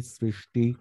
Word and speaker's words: সৃষ্টি: বৃষ্টি মিষ্টি কৃষ্টি দৃষ্টি সৃষ্টি, সৃষ্টিতে প্রথমটা এস, দ্বিতীয়টা এসএইচ উচ্চারিত হবে।